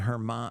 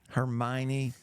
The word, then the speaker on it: Hermione: school I'm sure where's potty Ron Weasley and Hermon Hermon Hermon how do you say her name hermion Hermione have you ever seen Harry Potter yes I